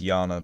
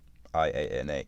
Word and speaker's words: Iana: I know it's Yana, but Iana, Iana. That's how I pronounce it.